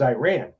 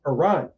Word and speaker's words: Iran: And she's like, she's like, "It's Iran." I was like, "That's what I said." Because from Chicago. I'm like, "That's what I said. I said I ran." She's like, "No, Iran."